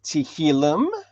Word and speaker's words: Tehillim: So in that, it's called Tehillim, or Tehillim 29. That translated into English is Psalm 29. So if it's easier to call it Psalm 29 instead of Tehillim 29, go ahead.